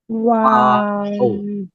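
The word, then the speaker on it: واو: ওয়াও প্রথমে গোল করতে হবে। ঠোঁট যদি গোল না হয়, হ ওয়াও হরফ পড়ার সময় ধরে রাখেন, সামনে গিয়ে আপনি আটকে যাবেন, ভেজাল হয়ে যাবে, এটা অন্য হরফের সাথে মিলে যাবে, তালগুল পাকিয়ে ফেলবেন। এই জন্য এখন থেকে ঠোঁট গোল করার প্র্যাকটিসটা করে যেতে হবে।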